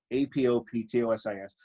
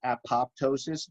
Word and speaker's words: apoptosis: And there's apoptosis, A-P-O-P-T-O-S-I-S. A lot of people mispronounce this apoptosis, but the second P is actually silent. It's apoptosis.